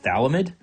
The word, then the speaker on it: phthalimide: nucleophile right here so this thing is called potassium Talmud alright and it's spelled quite strangely so potassium phthalimide alright